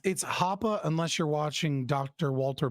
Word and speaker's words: Hoppe: It's Hoppe.